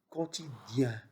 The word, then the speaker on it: quotidien: Quotidien. Quotidien, c'est-à-dire chaque jour. Chaque jour. Quotidien. I-E-N se prononce ien, comme un chien. Bien, rien, etc.